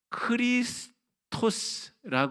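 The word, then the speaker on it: Χριστός: 되게 됩니다 자 그런데 이게 뭐냐면 헬라 로 크리스토스 하는 헬라어에 근데 헬라어는 영어랑 유사하지만가 크 발음이 나고요 그니까 크리스토스 그리스도라는 말이잖아요 그리스도 근데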